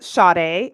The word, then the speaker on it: Sade: your name sorry Scott yes it's pronounced Sade it does not look like that's how it's pronounced but yeah that's how you pronounce okay I just want